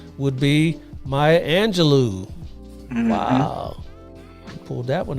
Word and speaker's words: Angelou: Cage Bird Sings and last name rhymes with xanado do would be Maya Angelou wow he pulled that